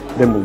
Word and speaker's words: Demel: tanesi olan demila geldik demel ik ile yazılıyor demel diye okunuyormuş bize öyle söylediler Şimdi burada kayan shimin